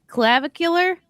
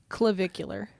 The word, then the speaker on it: Clavicular: Am I saying it right? Clavicular. Clavicular. Sounds like Clavicle.